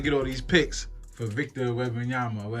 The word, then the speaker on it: Victor Wembanyama: My joke is that, we trade them for, we trying to get all these picks for Victor Wembanyama, or how you say his name, right?